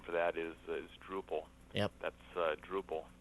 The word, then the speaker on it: Drupal: for that is is Drupal yep that's uh Drupal as opposed to Drew Paul I think Drew Paul